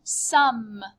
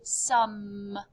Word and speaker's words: sommes: Nous sommes. Notice you just say some.